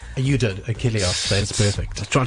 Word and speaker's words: Achilleos: You did, Achilleos. That's perfect. I was trying to make it out. It's a lot of Greek to me. In Greek, the pronunciation is Achilleos.